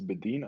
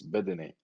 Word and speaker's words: Bedene: I don't think it's Bedin. I think it's Bedene.